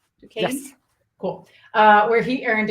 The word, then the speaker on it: Duquesne: I'm pronouncing that right, correct? Duquesne?